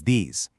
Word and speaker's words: these: All 4 of these words start with a voiced TH sound. It's not a hard D or a soft T. It's a vibrating sound.